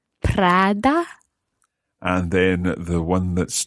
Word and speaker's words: Prada: What about the other one that's spelled Prada? Prada. Prada.